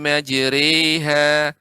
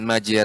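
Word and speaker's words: مجريها: kita pilih di sini pengucapan yang benar adalah e bismilahi majreha hari ya bukan re juga bukan regu ya makanya pengucapannya apa karena Fatehah iang dimiringkan ke Astro web seolah kembali pengucapannya bismilahi majreha nadziri bukan majer eh bukan juga majhi re koi dan huruf ro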